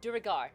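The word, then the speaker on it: duergar: again is it dog i listen to matt mercer say it on dnd beyond it's duragar durgar okay right so um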